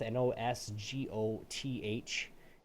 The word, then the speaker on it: Nosgoth: But Nosgoth, Nosgoth, is how you say it.